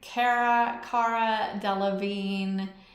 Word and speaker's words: Cara Delevingne: Cara Delevingne.